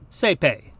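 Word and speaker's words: saepe: Now in Ecclesiastical Latin, the diphthongs AE and OE actually sound very much like each other and very much like the single vowel E, A.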